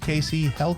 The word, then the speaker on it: Kacey Heldt: Like I held it in my hand.